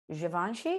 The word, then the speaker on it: Givenchy: He says you don't need Givenchy. You need Jesus. Like the lines are there. So that's how you pronounce that. Givenchy, yeah.